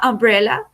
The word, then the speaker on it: umbrella: Por ejemplo, la palabra sombrilla en inglés que empieza por u que se escribe umbrella, se dice umbrella, y esa U no suena como you.